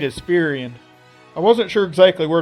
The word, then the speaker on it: Firion: But I'm going to assume the small amount of people who did care enough to pronounce his name were like me and called him Firion, since that kinda looks like how his name should be said.